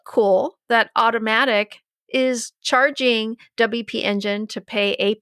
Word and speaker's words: WP Engine: mean we've we've both even Ryan said it wrong WordPress engine no it's WP engine but I mean obviously